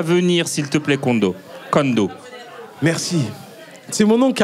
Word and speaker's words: Kohndo: Moi mon prénom s'écrit K-O-H-N-D-O. Voilà. C'est pour ça. Et donc on dit Kondo.